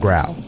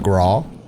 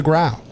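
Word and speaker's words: Grau: people call it the graw. It is the growl. That's how the English language works. Why would they call it the graw? Graw would be G-A or G-R-A-W, not G-R-A-U. It's the growl.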